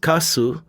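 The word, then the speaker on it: 粕: In Japanese, the character for leftovers, pronounced kasu, is composed of radicals meaning white and rice.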